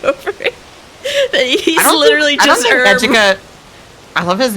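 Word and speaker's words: Ejika: He's literally just eda. I love his name is Eda. He's like an ed edgy Erica. Um, bro, I think it's supposed to be like Aika to be fair, but like I just call I like calling him Aika.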